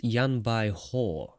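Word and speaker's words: Yan Baihu: you guys probably already knew, but apparently it's Yan Bai Hu. So now that I've learned that, my pronunciation has increased. Improved, sorry. English isn't my native language either, so I'm sorry for that, but Yan Bai Hu, apparently.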